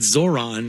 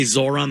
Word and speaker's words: Zohran: I would think they wouldn't want to go with Zohran because it rhymes with moron. It's very easy to say Zohran the moron.